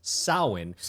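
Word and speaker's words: Samhain: pronounced well it's spelled Sam Hayne but it's pronounced sin which is the Celtic festival that's basically the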